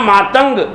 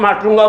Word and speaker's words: मातंग: वो एक 16 वर्ष की नौजवान लड़की एक महर्षि, क्या नाम, मातंग, मातंग का स्पेलिंग जानते हैं? MATTUNGA, मातंग है ना। उसको आजकल लोग माटुंगा बोलते हैं बम्बई में, है ना।